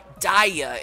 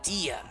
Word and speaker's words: Dia: even more like it if you say your name wrong like daya instead of dia I'm not saying my